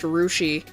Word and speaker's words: Russia: We have a town called Russia, pronounced Rushi.